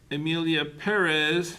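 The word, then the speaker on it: Emilia Pérez: So we got Anora, The Brutalist, A Complete Unknown, Conclave, Dune Part 2, Emilia Perez, that's the correct way to say it, I'm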